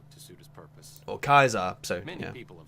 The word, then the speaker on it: Caesar: Yeah, so obviously an interesting thing here is how, like, every character within the game always pronounces Caesar as Kaiser, but obviously Arcade, being able to speak Latin, actually pronounced him as Caesar, because he knows actually how to pronounce the...